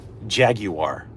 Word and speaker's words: Jaguar: reverse break on this jaguar or Jaguar depending on how you pronounce it anyway pure Sal is